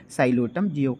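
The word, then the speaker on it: Psilotum: please के पी से हो जाएगा यहाँ पे साइलोटम, जहाँ पे पी साइलेंट होता है एंड एल फॉर यहाँ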